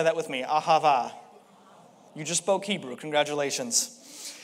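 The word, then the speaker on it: אהבה: the word love that we see here is pronounced ahava everyone say that with me ahava you just spoke hebrew congratulations hebrews the original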